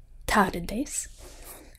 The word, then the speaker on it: tardes: T is much like English. But is pronounced a little more forward in the mouth, such as in English it would be tomorrow. Tomorrow. And buenos tardes has more of your tongue touching your teeth.